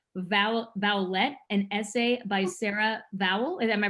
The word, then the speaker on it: Vowell: You produced and directed Vowlette, an essay by Sarah Vowell. Am I pronouncing that correctly?